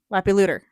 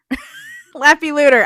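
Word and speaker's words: Leppalúði: and lapyloodle. Lapyluter. Lapyluter. I had to look up the pronunciation before we started because it doesn't look anything like that.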